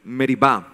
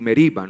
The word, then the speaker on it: Meriba: Aquel lugar masa y merib algunas Biblias dicen masa y meriba no eso es por la pronunciación en hebreo que yo hago por